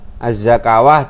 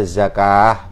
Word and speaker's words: الزكاة: Az-zakawah dibaca zakah begitu nggih, paham nggih?